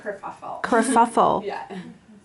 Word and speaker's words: kerfuffle: mess a messy situation how do you pronounce it i pronounce it kerfuffle wow and i think it came from britain or or ireland and i'm sure they pronounce it another way but in canadian